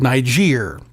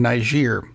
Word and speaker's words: Niger: Donnie's Benghazi is called Niger, which worries me because I know a lot of people are pronouncing it with a completely different G sound. Don't do that.